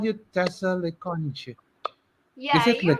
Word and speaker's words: Tessa le Conge: I always call you Tessa le Conge. Is Yeah, it le you're Conge? pronouncing it right. It's Tessa le Conge.